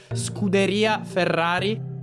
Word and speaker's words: Scuderia Ferrari: Your pronunciation is it's strongly American. It's more Scuderia Ferrari.